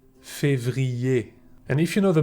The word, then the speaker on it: février: ER is pronounced E. Janvier, février.